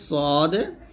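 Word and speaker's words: ص: শিন শিন এরকম ভাবে তারপর হচ্ছে সদের জিহ্বার আগার সামনে নিচের দুই দাঁতের আগার সঙ্গে লাগিয়ে কিঞ্চিত শীষ ধ্বনি সহ উচ্চারণ করতে হবে তো এখন কিন্তু আমরা শীষ ধ্বনিটা বের করব তবে এই শীষ ধ্বনিটা কি হবে মোটা হবে মোটা করে ধ্বনিটা বের করতে হবে যেমন এরকম সদ এরকম ভাবে তারপর হচ্ছে দহ্বার কিনারা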